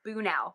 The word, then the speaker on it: Bunnel: See, my maiden name was Bunnell with two L's. And so every Oh time I see that, I think Bunnell, but it's Bunel.